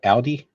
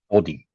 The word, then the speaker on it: Aldi: Aldi, Aldi. ALDI. Yeah, we pronounce it differently. Ah, okay. Yeah, I think here we Yeah, say ALDI, Aldi.